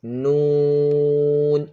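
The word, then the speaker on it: نون: Pronouncing of this letter, you should round your lips. Noon.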